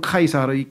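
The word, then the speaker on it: Caesar: 네가 반드시 카이사르 시점이다 영어로는 c죠 라틴어로는 카이사르 발음 때문에 영어의 시자의 철자가 이렇게 발음이 달라요 영어로 발음할 때 하고 라틴어로 발음할 때 하고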